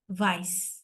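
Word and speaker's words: weiß: ভাইস ভাইস ভাইস ভাইস এটা কিন্তু ভাইস হবে আমরা কিন্তু ডব্লিউ বলবো না আমরা এটাকে কি বলি এটা হয়ে এ ভেস ভে ভে হ্যাঁ তো এজন্য আমরা এটাকে ভাইস বলবো ভাইস ভাইস হ্যাঁ তাহলে ফারবে ফারবে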